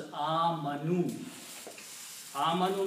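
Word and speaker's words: آمنوا: which is not recited so the word is pronounced as a Manu means they believe it's a plural so here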